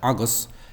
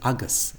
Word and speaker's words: agus: So this G, in this case, is broad because it's followed by a back vowel, A, O, U. But he pronounces it as a slender G almost. He doesn't quite get that far. He says Agus, G, G, G, G, G, which is kind of a neutral English G, whereas the broad G in Irish is deeper, further back, the tongue is further back, go, go, go.